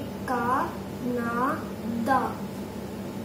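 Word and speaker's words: カナダ: हम इंग्लिश में प्रोनाउंस करते हैं कनाडा को कनाडा, पर जापानीज में हम प्रोनाउंस करेंगे इसे का ना द.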